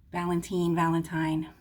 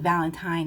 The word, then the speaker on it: Valentine: I think Valentine is how you say it for a girl, and Valentine is how you say it for a guy. Just like Valerie. For a girl, it's Valerie. For a boy, it's Valerie. Okay.